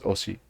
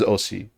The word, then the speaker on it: osi: And again, listen to how the native pronounces osi. Na e osi teu ia. So she says osi clearly, but a lot of the time it is os.